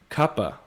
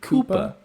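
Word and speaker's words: CUPA: cincinnati ultimate players association kappa okay right because it's ultimate yeah most people like the heads of cuppa say koopa it's like it's not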